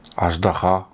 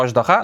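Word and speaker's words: аждаһа: Только мы, татар, его называем аждаха. О, вау, вау. Мне надо самому такому произношению научиться ещё. Очдаха. Ты всё правильно сказал? Очдаха. Мы называем его Ождаха.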